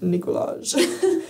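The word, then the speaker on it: Nikolaj: So now I'm it's pronounced Nicolaj.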